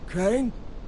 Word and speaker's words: Crane: no my name's crane crane crane rhymes with train and brain and sane and gray and rain and plain and the other kind of plane and and